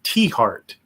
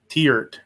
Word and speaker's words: Tiahrt: national centralized Firearm Database pronounced teart teart okay that sure as doesn't look like teart it's TI a HRT looks like teer um dead [ __